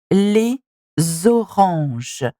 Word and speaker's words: les oranges: We would say les oranges. Les oranges. So this is what it is. We're pronouncing the last letter of les and the beginning of orange. And that's how we make the liaison.